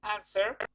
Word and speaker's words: answer: answer okay repeat please answer excuse me repeat one it'll repeat the word answer absent answer answer it is not answer is answer without the w answer answer that's the